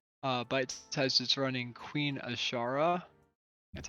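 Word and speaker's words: Azshara: Interesting also, Bite Size is running Queen Ashara. That's how you Yeah.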